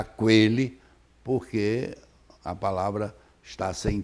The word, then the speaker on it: aquele: você não precisava ter, mas você não vai pronunciar aquele, porque a palavra está sem trema, você fica em dúvida de saber se o U é pronunciado ou não é pronunciado.